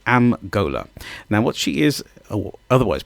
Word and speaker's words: Golhar: person to myself, it's my sister called Am Golhar. Now, what she is, otherwise pronounced as Golhar, but what she is an individual who is